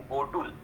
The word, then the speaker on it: गोटुल: ही wrong perception है, जिसको बोलते हैं गोटुल, जिसको बहुत सारे लोग घोटुल भी बोलते हैं, लेकिन उसका सही प्रोनाउंसिएशन गोटुल है।